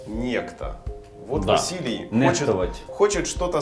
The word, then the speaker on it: Nexta: Живут в Польше и являются модераторами того самого ресурса, который называется Nexta по-английски или же Nexta по-белорусски. Он читается, то есть Некто.